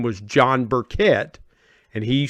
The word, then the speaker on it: Burkett: And that is my guest, Anita Burkett.